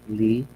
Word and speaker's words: Lev: psychologists and social constructivists lee baywatsky the spelling is lev but we will pronounce it as lee vygotsky is scaffolding or